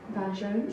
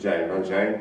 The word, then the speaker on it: Vin Jaune: Vin Jaune. Vin Jaune.